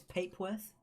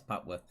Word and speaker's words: Papworth: It's Papeworth. It's not, it's Papworth.